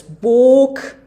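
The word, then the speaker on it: boek: get uh wrong so the word spelled b-o-e-k is pronounced as book um I'd uh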